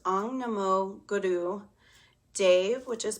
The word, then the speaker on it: Dev: So it's Ong, Namo, Guru, Dev, which is pronounced D-E-V, and then Namo.